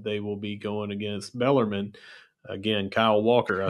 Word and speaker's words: Bellarmine: at 4 p.m., they will be going against Bellarmine. Again, Kyle Walker, I said it right, Bellarmine. Bellarmine, 4 p.m.